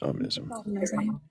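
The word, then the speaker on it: omnism: Ominism? I don't know how to pronounce it. Sorry. You did it right. Ominism.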